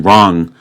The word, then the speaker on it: wrong: a silent a and in wrong of course we have the silent W so let's find out